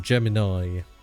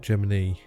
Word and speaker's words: Gemini: on but it was a very common uh pronunciation of Gemini it's very common for like especially I think Texans which obviously you know a lot of NASA was from uh the southern states um they pronounce it Gemini Germany the Germany